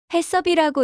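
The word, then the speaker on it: HACCP: 식품 이생법, 개인 이생 관리, 식중독 예방, hacp 저 hacp 뭐야? 발음도 어려워. 해섭이라고 읽어요.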